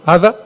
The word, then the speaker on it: Ada: eira eira eira eira Ada se pronuncia eira en inglés y Ella decía Yes